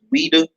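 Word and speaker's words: Ouidah: I think it's XWEIDA, and I think it's pronounced Ouida. Ouida.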